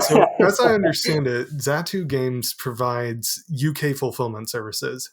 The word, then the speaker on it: Zatu: which one's the uh which one's preferred zatu zatu is how we we would say it okay I am glad I asked then all right so as I understand it zatu games provides UK fulfillment services at least that's